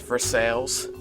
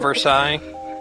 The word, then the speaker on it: Versailles: I still cringe when I have to say North ver sales instead of Versailles yes well it's like